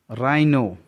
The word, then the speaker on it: rhino: राइनो, RHINO, R के बाद H है इसलिए H साइलेंट है।